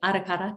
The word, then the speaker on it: Arakara: Although I do love Arakara, Arakara, or you say it like Arakara because you roll the R's.